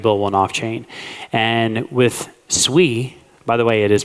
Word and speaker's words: Sui: And with Sui, by the way, it is pronounced Sui. Say it for the people in the back. It's pronounced sui but people say sooie or this guy up here actually Alex says